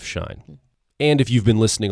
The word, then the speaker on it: Schein: look at book his last name is spelled s-h excuse me s-c-h-e-i-n it's pronounced shine but it's s-c-h-e-i-n and the book again is the hype handbook by shine and if you've been